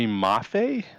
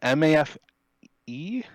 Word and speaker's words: Mafe: boy mafi m-a-f-e yes pronounce that for me buddy mafe yeah we're gonna